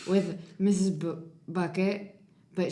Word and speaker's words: Bucket: Bucket, but she pronounces it as bouquet because she wants to be fancy, but she's not.